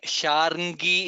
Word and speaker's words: शार्ङ्गी: this shloka are again Sharngi is there. We have to pronounce all the three letters Ra, Ng, Ga. Sharngi. That's how it is pronounced.